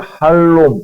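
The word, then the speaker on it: חלום: 그래서 목선님 하나 넘겨 주시면 히브리어는 발음을 할롬 이렇게에 발음을 합니다. 저가 할롬인데요. 밑에가 모음이에 저이 모음이에요. 그래서 저 이렇게 이렇게 읽거든요. 예 샬롬이랑 비슷하네.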